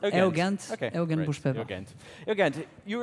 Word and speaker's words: Eugent: My name is Eugent. It's pronounced Eugent.